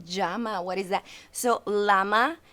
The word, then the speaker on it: llama: what is that so llama in spanish is pronounced jama so that would be